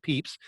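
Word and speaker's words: Pepys: even though it was spelled pep is apparently pronounced at peeps he was president of the royal society of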